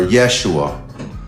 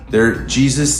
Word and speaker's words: Yeshua: Jesus, that's not pronounceable at the time period, by the way, guys. Is that something they did just... J didn't exist till the 16th century, so it was Yeshua or Esau.